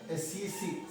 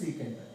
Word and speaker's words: sec: Some teachers will say sec theta. Their wish, their teachers, how they said for them, they will pronounce like that only, leave it out. Important one is SEC, you have to write it and they have to pronounce as secant.